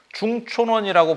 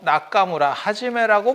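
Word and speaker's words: 中村元: 발음으로 불러 줘야 되는거다 중촌원이라고 부르지 말고 나카무라 하지메라고 불러라 일본 사람은 일본 발음으로 불러라 중국 사람은 중국 발음으로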